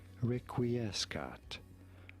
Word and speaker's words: requiescat: So make sure to state rest, and it is pronounced requiescat.